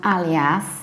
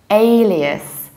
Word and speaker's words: alias: a strange creature so the basic word is not alias but alias a like alien and reduce ending alias so the gerund form